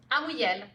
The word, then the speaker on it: Amouyel: I am, once again, at a Nexus Summit, and I'm interviewing my good friend, Amouyel. Did I pronounce that right? Amouyel.